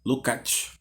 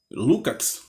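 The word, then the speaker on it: Lukács: E Lucas era húngaro e ele dizia que na Hungria se pronuncia Lucat, né? Então, Lucat, né?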